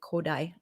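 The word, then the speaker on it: Kodály: indian rhythm system uh kodai i'll spell that too because that is not spelled how it sounds gold valley is how it's spelled but said kodai a gentleman from hungary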